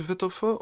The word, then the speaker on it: Wittlefoot: a w yes yes it's spelled with a W but it's pronounced in German so v v sound effect every time loka